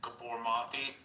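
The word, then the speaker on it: Gabor Maté: So like if you listen to like, I think his name is pronounced like Gabormati.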